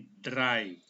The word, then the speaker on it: drei: EI dibaca I, maka cara baca ini drei.